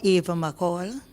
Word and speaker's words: Ava McCall: My name is Ava McCall. Come closer to the mic. Right, Ava or Ava McCall, which is the proper pronunciation of my name.